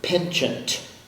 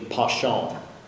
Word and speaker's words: penchant: i m end 18bd your word is penchant are there any other pronunciations uh there's a non-standard pronunciation pashon a strong leaning or